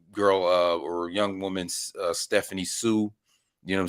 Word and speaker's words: Hsu: And then this girl or young woman, Stephanie Hsu. You know what I'm saying? You ain't supposed to pronounce the H in the word.